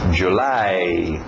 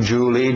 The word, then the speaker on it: July: A pronúncia February, January, February, March, April, aquele L no final, April, May, June, July, nada de Julie, Julie é o nome próprio escrito de outro jeito, July, A e o U fazendo o som de A.